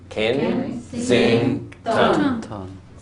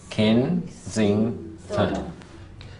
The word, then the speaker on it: Kensington: What about Kensington? 3. So Kensington. Kensington. How many syllables in Brahma Lodge?